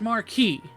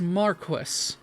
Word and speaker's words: Marquis: me over because that is pronounced Marquee the game pronounce it as Marquis and that's mostly because I looked into it